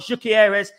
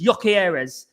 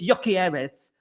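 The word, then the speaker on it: Gyökeres: It's not GYOKERES, it's GYOKERES. It's GYOKERES. So that's how we say it in England, bruv.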